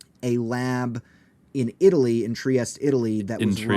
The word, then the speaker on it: Trieste: like oh you know trieste um I actually don't know if in Italian it should be pronounced trieste right but everyone British people call it triest it's very confusing um